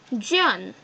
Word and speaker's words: jaune: Then, jaune. It's like a yawn.